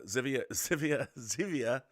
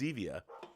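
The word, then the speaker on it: Zevia: the way rob uh zivia i mean xevia is how i pronounce it i don't know if that's it's not zivi it's xevia which i love and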